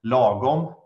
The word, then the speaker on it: lagom: So I would say, as coming from Sweden, we have one word that is in Swedish, it's pronounced lagom, and I believe it's a word that is